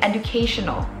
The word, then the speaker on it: educational: Kayak misalnya gini, educational. Di K-nya tuh ada tekanan. Educational. Education. Educational. Kita nggak tekan di do. Educational. That's weird. We don't do that. It's educational.